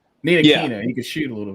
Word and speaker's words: Ntilikina: Yeah, Nitlinka.